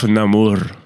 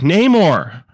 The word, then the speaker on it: Namor: And he calls himself Namor like that. He only pronounces it. But everyone else is like, Namor. Like an American.